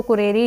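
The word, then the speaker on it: currere: इसको कुरेरे ही प्रोनाउंस करते हैं लैटिन भाषा के अंदर, जिसका मतलब है हमारे पास रेस कोर्स।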